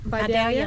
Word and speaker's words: Vidalia: Did I pronounce that okay? Vidalia? That's close. How do you That's say it? How do you say it? Vidalia onion.